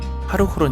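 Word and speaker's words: Хархорин: 제국의 수도였던 카라 코로 몽골 현지 발음으로는 하루 후론 이라고 부르는 곳입니다 13 책이 칭기스칸이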